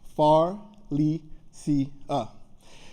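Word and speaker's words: Pharlesia: was my mom's name Faria p h a r l e s i a nine letters four syllables far Le C now I remember in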